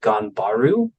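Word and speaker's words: 頑張る: to the seventh and final technique and it's pronounced ganbaru and the idea of it of it is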